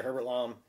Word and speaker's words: Herbert Lom: aided by the mysterious Captain Nemo played by Herbert LOM am I pronounce right yeah Herbert LOM okay of the submarine Nautilus who in an